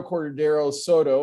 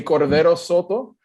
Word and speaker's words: Cordero Soto: Anyway, my name is Cordero Soto, if you say it with the very Anglican pronunciation. If you say it with my original hometown pronunciation, you would say Cordero Soto.